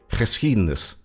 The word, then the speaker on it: geschiedenis: It can get really tricky as a foreigner, for example, if you need to pronounce a G together with a CH sound, such as in the Dutch word geschiedenis, meaning history.